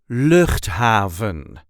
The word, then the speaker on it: Luchthaven: Luchthaven. The emphasis there is also on the first syllable.